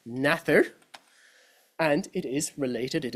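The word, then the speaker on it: nathair: the Irish the Modern Irish word for snake naher is pronounced today Once Upon a Time was pronounced nather and it is related it is cognate as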